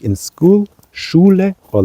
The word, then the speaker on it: Schule: And this S-C-H, of course, is a special sound in German, which is pronounced differently than in English, like school. But here we say Schule, Schule, Schwein, Schule, Schwein.